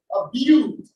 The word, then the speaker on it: build: Build, the U is silent, it's build.